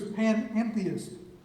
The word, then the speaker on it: panentheist: good question and it's the answer is panentheist which is an added syllable um and and that's